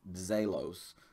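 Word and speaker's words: ζῆλος: I'm not great at pronouncing that, but it's kind of a, we would spell it with like a DZ. So it's like Zelos, Dzeo, almost a D sound beginning of it.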